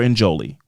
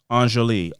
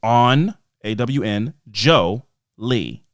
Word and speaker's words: Anjali: it phonetically right there my name is Anjali on awn Joe Lee so thank you for